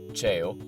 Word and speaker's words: ceo: In Venetian language, cello, pronounced ceo, means small.